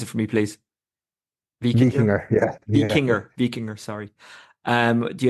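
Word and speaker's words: Víkingur: Do you expect the Icelandic outfit, Vikinger, pronounce it for me, please? Vikinger, yeah.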